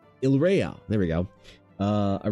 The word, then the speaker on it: Yria: The archipelago of Yria, pronounced Ila.